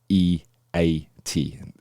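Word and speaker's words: E-E-A-T: It is E E A T. So it would be pronounced EAT.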